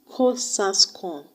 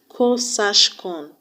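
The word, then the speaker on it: QOSASCON: Ko-Sas-Kon. Pronounce it Ko-Sas-Kon. Or you can actually pronounce it as Ko-Sash-Kon to help you remember that the second S is actually shape, SH. Ko-Sas-Kon or Ko-Sash-Kon.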